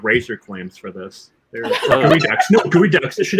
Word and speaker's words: geoduck: What's a gooey duck?